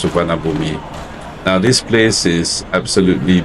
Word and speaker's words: Suvarnabhumi: Suvarnabhumi means golden land in Sanskrit, and now it's pronounced Suvarnabhumi, but yeah, most people will refer to it as Suvarnabhumi.